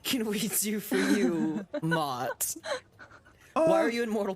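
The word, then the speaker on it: Motte: Mott. How do you say- It's M-O-T-T-E. Yeah, Mott. Almost like moat, but okay, Mott, okay.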